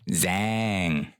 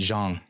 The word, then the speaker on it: Jang: saw him it' be like Zang and it's just like nope that's not how he does no it's Jang J J so stupid but anyway